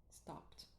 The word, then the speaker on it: stopped: tabelinha para vocês verem, se termina com P, stop, deveria ser então um som de T curto. Então, não pronuncia o ED nesse caso. Seria stopped, stopped, com um som de T no final.